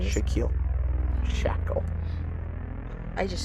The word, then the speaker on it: Shaquille: Shaquille.